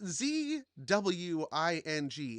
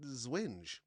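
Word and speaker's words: Zwinge: Me part of my me wanted to do the W as like a V sound like German.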